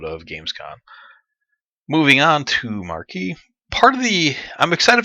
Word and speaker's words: Marquis: video and this is marquee and I hope I'm saying that right might be Marcus Marquee I I think the S is silent there this is a character